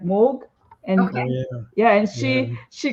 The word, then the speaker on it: Mog: that because uh if if you really pronounce my name in proper I would say Korean it's like Moog and yeah and she